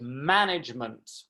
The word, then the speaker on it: management: little to show it the word management some of my students went management and i showed them that it's management management and i typed man in block capitals analysis was another difficult